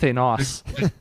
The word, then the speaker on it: Thanos: And you didn't pronounce his name Vegeta, so like bonus points there too. Thanos.